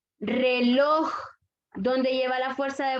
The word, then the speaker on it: reloj: ¿Dónde lleva la fuerza de voz? Lor. Lor. Por lo tanto, es aguda. Lleva la fuerza de voz en la última sílaba. Amistad, última sílaba. Dolor, última sílaba. Reloj.